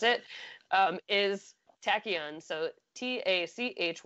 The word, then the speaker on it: Tachyon: cuz I had to ask Tyler how to pronounce it is Tachyon so ta CH y OU n so blow